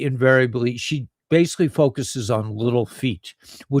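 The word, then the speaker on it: Little Feat: she basically focuses on Little Feet which is spelled F E A T Little Feet L George.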